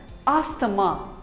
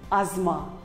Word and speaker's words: asthma: us call it as asthama but wrong it is not asama it is called as asma the t and h is silent asma here is another